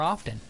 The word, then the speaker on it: often: I should fall on deadly stuff more often. I should pronounce the T in often less often.